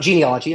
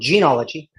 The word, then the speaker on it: Genology: genealogy or genology um it's not genealogy I've said it wrong genology um where we are